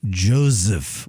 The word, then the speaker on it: Joseph: His name is Joseph with a Z. You pronounce it with a Z, I learned.